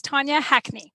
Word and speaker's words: Tanya Hackney: tanya because i wasn't entirely sure how to pronounce it that's okay that's tonya hackney perfect and the reason we're speaking today is